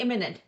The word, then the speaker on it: इमिनेंट: इमिनेंट, eminent almost same है बोलने में।